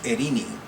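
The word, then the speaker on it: Eirene: But I know the pronunciation of her name is Irene.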